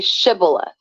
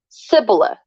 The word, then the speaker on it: shibboleth: am not they would tell him to say shibboleth if he was from Ephraim he would say Cibola because people from Ephraim cannot pronounce the word correctly then they would take